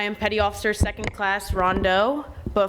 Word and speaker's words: Rondeau: I just want to say it's pronounced Rondeau, not Rondeau. Good morning, everyone. I am Petty Officer Second Class Rondeau, but 5 years ago, I was sitting right where you are.